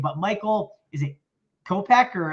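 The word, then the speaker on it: Kopech: gonna butcher his name but michael is it kopeck or how do you say his name kopeck yeah you got it all right copack he's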